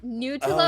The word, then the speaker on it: Nutlope: Nutlope is that an L? Best, yeah, that's the best pronunciation I've heard thus far.